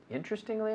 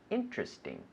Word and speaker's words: interesting: Interestingly enough. Interesting. Interesting. 3 syllables. Interesting. Interesting.